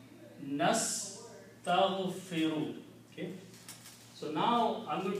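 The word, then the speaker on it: نستغفر: Nastaghfiru. That's how we pronounce nastaghfiru.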